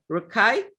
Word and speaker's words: Rakei: my favorite musician please welcome once again jordan rukkai am i pronouncing it right that's right that's right that's